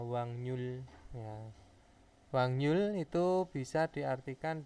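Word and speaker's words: 확률: dari katanya itu adalah Wak Rul itu dibacanya menjadi apa wangnyul ya wangnyul Itu bisa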